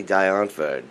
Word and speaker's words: Die Antwoord: How do you say Die Antwoord properly?